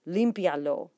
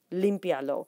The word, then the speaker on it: límpialo: syllables, not just vowels, make sure to count vowel combinations as seen in words like limpialo as 1 syllable. For example, there's your 1 syllable. Lo. IA is considered one syllable, not two separate syllables because of the diphthong of the two notes of the two letters together, and then 3.